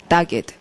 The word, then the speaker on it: dogged: 자, 발음이 dogged. 예, 그러면 dogged가 진짜로 개처럼 끈질기다는 말이어서 dogged라고 덕 발음을 합니다.